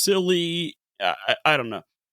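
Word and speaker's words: Scilly: England and Cornwall it's silly. I I don't know. I looked it up and um the lady says silly like s i l e e sill.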